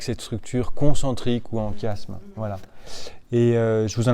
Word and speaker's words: chiasme: Ça s'appelle un chiasme.